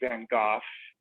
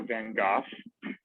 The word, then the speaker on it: Van Gogh: or pronounce it correctly, Van Gogh, because even though it's spelled Gogh, pronounced with an F, so Van Gogh, Huh.